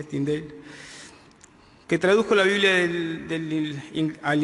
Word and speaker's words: Tyndale: William Tyndale, como se pronuncia, Tyndale, que tradujo la Biblia al inglés, dijo: ningún hombre puede leer esta carta demasiado a menudo o estudiarla demasiado bien.